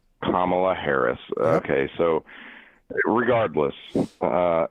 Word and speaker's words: Kamala: Uh, so what I want to ask you about, pronounced Kamala. Kamla Harris.